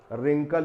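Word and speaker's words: wrinkle: बाद के जो लेटर हैं उनको यहां पर प्रोनाउंसिएशन किया जाता है। जैसे राइट यानी लिखना, रॉन्ग यानी गलत, रिंकल यानी झुर्री, और इसी तरह से रैंच भी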